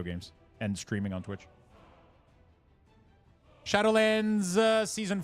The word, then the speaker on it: Shadowlands: those three little mistakes I hate that you're saying Shadowland it's shadowlands yeah but in French we